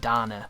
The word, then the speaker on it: Dana: titular Danner even though they don't call her dana they call it Donna which is weird to me I've never heard that name pronounced that way and it's not the most